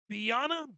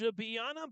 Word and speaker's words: Biana: German foreign exchange student, Biana Benson. Biana Benson comes on to kick it. Eric Olsen, head coach, prior to the game saying, You pronounce his names like a combination of Beyonce and Rihanna.